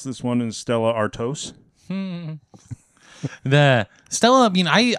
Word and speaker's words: Stella Artois: And I think the proper way to pronounce this one is Stella Artois.